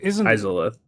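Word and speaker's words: Izalith: How do you pronounce that? Zyth? Izolith. Izolith? Izolith.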